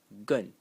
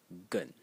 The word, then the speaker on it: 艮: The first way to pronounce it is gun in the fourth tone and the second way is gun in the third tone.